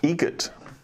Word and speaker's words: Egret: Egret. Spelt differently. Like the bird.